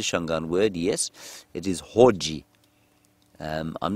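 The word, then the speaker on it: hodji: It is Hoji. I'm not sure of the spelling, but you could spell it phonetically, H-O-D-J-I.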